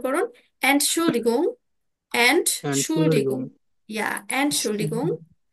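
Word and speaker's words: Entschuldigung: আমার সাথে উচ্চারণ করুন এন্ড শুল্ড ডিগং এন্ড ডিগম ইয়া এন্ড শুল্লিগং আমরা কিন্তু এখানে গিয়ে এটা বলতে পারি এই যে দেখুন এন্ড শুল তারপরে ডি তারপরে গুম এভাবে ভেঙে ভেঙে উচ্চারণ গুলো করব যদি কোন প্রবলেম হয়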